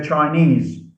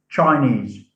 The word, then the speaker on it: Chinese: e s e portuguese we say chinese not chinese chinese so the suffix takes